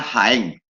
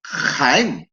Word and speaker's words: Jaén: Como yo diría Jaén. Pero ¿qué ocurre con las personas de Jaén que dicen Jaén, que la rasgan?